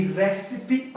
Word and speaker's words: recipe: Recipe é uma palavra que preservou essa pronúncia antiga. Ela vem do latim recipere.